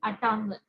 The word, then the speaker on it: Ashtanga: It's in Tamil, and he calls it Atanga Yoga. Okay, so he mentions it, but he doesn't mention it as Ashtanga, he mentions it as Atanga. Because what happens is in Tamil, sometimes the pronunciation, the words, they have a little difference as it happens in all the languages when it's changed.